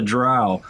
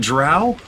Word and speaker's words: Drow: were talking about the Drow. They asked, is it Drow or Dro? And they're like, oh, it's pronounced the same way you pronounce B-O-W. Oh, you mean bow or bow?